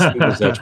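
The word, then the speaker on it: Lubizec: If I had a chance to retitle that book, I would, because no one knows how to pronounce the that last word. It's Liebezek, but I should have just called it the Commandant and left it at that.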